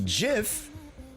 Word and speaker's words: GIF: Something, yeah, pronounce two distinct image formats, GIF and GIF, the same way. Hence, most people use the intentional way of pronouncing it with a G, not a J.